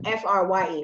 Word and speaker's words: Frye: Oh, Frye. Oh, okay. Yeah, like the boots. I think you might have said it right. I don't. Okay. Yeah. Frye.